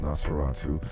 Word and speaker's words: NOS4R2: He wrote a book called Nosferatu, but it's spelled N-O-S and then the number 4, the letter R and 2. Nos4R2. Because that's what's on the guy's license plate.